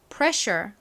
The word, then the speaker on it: pressure: 단어는 pred sure이라고 있습니다 ssure가 show 발음이 나죠 따라해 볼게요 pressure 자 다음 단어 볼게요